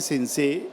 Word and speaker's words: Sensé: El acento agudo te permite una pronunciación muy rápida que insinúa la prolongación de la segunda E.